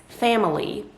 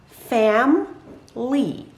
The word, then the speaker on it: family: now so first glance how i used to say it is family family until i realized that the letter i in the middle of the word actually does not get pronounced it gets dropped just like in the previous example so instead of saying family i realized that most native speakers say fam lee fam lee family family so it actually